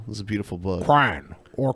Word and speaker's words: Quran: Quran or crayon. This is how Brett pronounces the name of the holiest book in Islam.